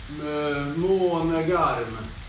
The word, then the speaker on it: Månegarm: The right way to pronounce this band name is Månegard. Repeat after me, please. Månegarm. Vakna. Månegarm.